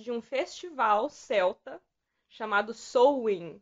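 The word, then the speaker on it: Samhain: um festival Celta chamado sowing que ele se escreve S A M H A N com eles também mas se fala sou o hino e outra coisa que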